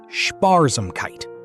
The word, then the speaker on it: Sparsamkeit: Sparsamkeit, pronounced Sparsamkeit, roughly means thriftiness or frugality.